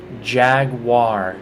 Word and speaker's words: Jaguar: Jaguar, like with a W, but it's a U.